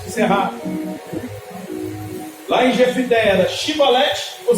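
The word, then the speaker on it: Shibboleth: Lá em Jefité era Shibolete ou Sibolete? Aquele que não era da mesma família, aquele que não pertencia ao mesmo rei, aquele que não era aliado, não conseguia pronunciar o SH.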